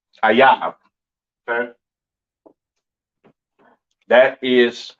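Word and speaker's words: אויב: Ayab. Okay, that is how you pronounce enemy.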